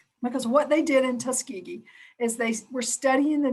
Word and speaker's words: Tuskegee: that experiment known as the tuscany i'm probably saying it wrong but you're saying it right yeah tuskegee so what they did